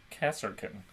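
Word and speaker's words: Kasrkin: The S is before the R. Yeah, no, don't just Cass Cass Kin. Kasserkin.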